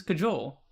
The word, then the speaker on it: cajole: The J is used like an H. I mean, Hmm. easy. I've just never heard that word or I've heard it seen pronounced that word both ways, before. but I've heard cahool more than cajole. Cajole. Oh wait, no. Google says cajole.